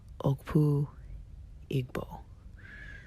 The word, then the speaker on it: Okpu Igbo: And the traditional Igbo cap is called Okpu Igbo.